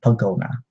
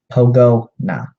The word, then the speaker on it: Pogona: has to say captain pogona Pogo nah like pogo stick but no thanks toe